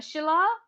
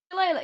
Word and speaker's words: shillelagh: Oh, I can't pronounce that. Shila? Is that how you pronounce it? Shilayla? Thing I can. Delilah? Shillelagh, yes, I can Shillelagh?